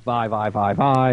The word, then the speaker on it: Vi: I started calling her V before I watched the Champ Spotlight, and everybody's like, Vi. It's a long I, V-E-Y-E.